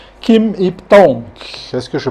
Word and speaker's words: Kim Yip Tong: Kim Ip-Tong. Est-ce que je prononce bien le nom?